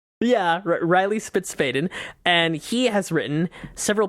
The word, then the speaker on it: Spitzfaden: Is that how you say it? That is, we Americanized it. Yeah, Reilly Spitzfaden.